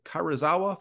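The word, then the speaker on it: Karuizawa: He is the creative director for Nobechi Creative and the Karazawa Photo Fest. Is that pronunciation correct?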